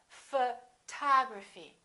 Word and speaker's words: photography: this one we stress the second syllable we say photography this o also is reduced and also becomes this symbol a photography photography repeat after me